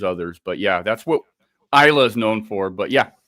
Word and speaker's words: Islay: Yeah, I was born in Paisley, Glasgow, but I actually lived on an island off the west coast of Scotland called Islay. It's spelled Islay.